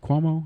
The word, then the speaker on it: Cuomo: Well, here's the thing, though, and there's a stark difference when you listen to Governor, what's it, Cuomo? Is that how you pronounce his name? Yeah.